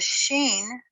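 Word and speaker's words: shin: The sheen is transliterated with an SH and pronounced sh, whereas the seen is just the S sound.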